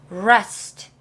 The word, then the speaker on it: rest: 갈게요 rest rest 자 만약에 R이 아니라 L 이었다면 발음이 이렇게 돼요 l l 혀가 잘 보세요 혀를 잘 보세요 L 근데 아이기 때문에 rest 안에서나요 rest 그런데 였다면 밖에서 소리가 나고요 혀가 입천장에 붙어요 rest 이렇게 좀 가벼운